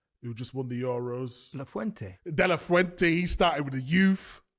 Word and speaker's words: de la Fuente: If you look at the Spain manager, how do you pronounce his name again? Who just won the Euros? De La Fuente.